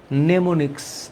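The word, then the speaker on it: mnemonic: কৌশল নেমনিক্স এটাকে নেমোনিক্স বলে। আচ্ছা এই নেমোনিক্সটা হচ্ছে এমন এটাকে ইংলিশে উচ্চারণটা করে নেমোনিক।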